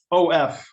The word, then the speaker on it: of: OF, even though it's an F, is pronounced of, even though it's spelled OF.